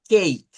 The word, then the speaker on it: cake: eso Miren la palabra cake miren cake termina en e la e no se pronuncia nótense como aquí no